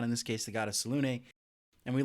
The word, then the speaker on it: Selune: We pitched a couple of different gods, and the one that you picked, I had always thought was pronounced Selune, like a cowboy would walk into.